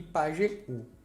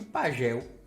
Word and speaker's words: pajeú: Aqui a gente tem baú, grajaú e pajeú. O sozinho na sílaba tem que ter acento. E esse acento representa que essa sílaba é a mais forte. Sem acento ficaria como, professor? Bau, grajal e pagel.